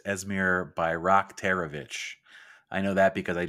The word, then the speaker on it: Esmir Bayraktarević: It's Esmir Bayraktarević. I know that because I just looked at the pronunciation guide on their website.